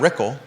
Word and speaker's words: Rickel: 365 dollars Brad rickel rhymes with pickle ten thousand three hundred dollars and Malik has more than two Acts Brad Rickles contributions 23 365.